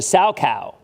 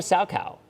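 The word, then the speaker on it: Salchow: on Thursday set so Jules said it's a sow cow and the fact that I pronounced that I think it's called a Sal cow so they thank you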